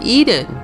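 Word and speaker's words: Ehden: For example, a town across from Hasrun is called Eden, E-H-D-E-N, which phonetically is the same as Eden, E-D-E-N, as in the Garden of Eden.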